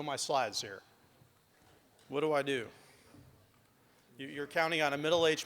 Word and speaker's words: Eid: can tell um th this is my name ID or we'd say in Arabic and that's how you that's how you say it now I don't know